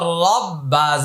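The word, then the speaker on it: ربي: সুহানা তাহলে এটা কলকলা এটা এক আলিফট রবা রববা বি রব্বি রব্বি ইয়া লাম জবর ইয়াল রব্বি ইয়াল আলিফটা উচ্চারণে আসবে না হামজা আইন জবার লাম খারা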